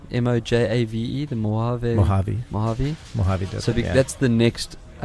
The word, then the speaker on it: Mojave: I mean, I've always been slated this by everyone, but because of Mojave, did I pronounce it right? Mojave, the Mojave.